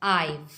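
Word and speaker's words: I've: ठीक है, I have, इसे हम प्रोनाउंस करेंगे आइव।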